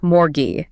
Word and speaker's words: mortgage: You have this massive harsh T sitting dead center in the word, and it is completely silent. But then, the ending betrays you as well. Doesn't sound like age. It degrades completely into an I J sound. The entire architectural integrity of the visual styling collapses when spoken. It becomes morgue.